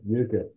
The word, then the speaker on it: Utica: Yeah, At what it's pronounced. I want to make sure I say it right. It's Utica Utica, that's right, Utica.